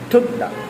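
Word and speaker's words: 듣다: যেমন আমরা যদি এখানে দেখি থুদ্দা। থুদ্দা, থুদ্দা, দেখেন প্রথমে বসছে থ উচ্চারণ হচ্ছে, নিচে বসছে ত উচ্চারণ হচ্ছে এবং মাঝখানে শেষে বসছে দ উচ্চারণ হচ্ছে।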